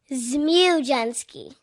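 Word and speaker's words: Zmudczynski: of her last name can you say ja ski that's how you say it z jensy z jenski z m u d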